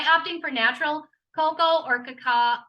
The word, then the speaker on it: cacao: for natural cocoa or cacao cacao that's how you say it cacao powder um and